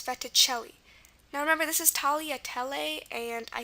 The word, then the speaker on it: tagliatelle: Well, that actually applies to fettuccine than tagliatelle, because this is actually pronounced tagliatelle.